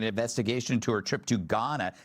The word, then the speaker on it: Ghana: Mayor Karen Bass is demanding an investigation into her trip to Ghana. The H is silent.